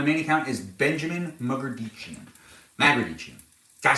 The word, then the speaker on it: Magrdichian: can also follow me on Instagram at Benjamin Magrdichian. That's right. If you're watching me on Balavoon, on this Balavoon account over here on TikTok, it's not my main account. My main account is Benjamin Magrdichian. Magrdichian.